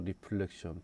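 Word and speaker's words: reflection: 리플렉션 발음이. 근데 얘는 LE 발음이고 얘는 RA 발음이에요. 그래서 제가 발음을 할 때 리플렉션이라고 할 거고, 이거는 리프렉션이라고 할 겁니다.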